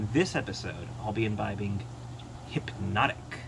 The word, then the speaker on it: Hpnotiq: take a closer look hypnotic which is pronounced normally but spelled very strangely is a kind of